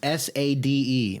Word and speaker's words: Sade: __ ] s-h or it's s-a-d-e but it's pronounced Sade she's got the oh